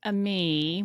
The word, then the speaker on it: ami: for a future book a me which means friend but then everybody will read it as Amy so it won't it